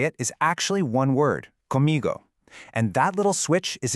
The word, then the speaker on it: comigo: But the right way to say it is actually one word, comigo.